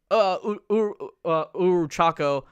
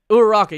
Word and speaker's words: Uraraka: like a cereal brand where they have like Uruchako, I forgot how to pronounce her name, Deku, Uraraka, you have man. Uraraka, yeah, And then you have all these different anime characters, and it's just different cereals.